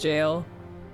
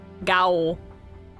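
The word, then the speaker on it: gaol: I know that G-A-O-L is pronounced jail. Which is fucked up and weird. Anyone would look in that and go like, gowl. Gale? Gowl? But it's jail.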